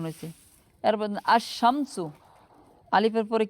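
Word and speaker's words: الشَّمْسُ: আশ-শামসু, এটা কিন্তু আল শামসু হয় নাই, আশ-শামসু হয়েছে।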